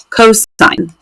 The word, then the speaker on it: cos: just si N and then cosine we just write cos but we say that cosine and then tangent same